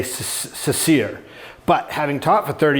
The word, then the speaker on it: Cecere: If you ask Italian, um, they say that my name is supposed to be pronounced chicherry or chere or something like that. My dad taught me years ago to say ceir but having taught for